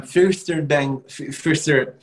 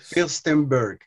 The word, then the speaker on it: Firstenberg: And Sam Firster, it's hard for me to pronounce the name. And Sam is Firstenberg.